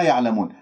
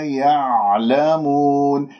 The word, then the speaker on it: يعلمون: العين ساكنة، والعين الساكنة تحتاج إلى تدريب لأنه لازم تنزل أنت إلى وسط الحلقة، لأنه كما يقول علماؤنا أنه في انزعاج في المخرج كأنه أنت عم تبلع شيء ما تخرجها مقلقلة، يعلمون خطأ.